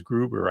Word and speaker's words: Gruber: And her last name is Gruber, I think.